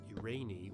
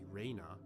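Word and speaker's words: Irene: Yes, that word is pronounced Urani or Urana.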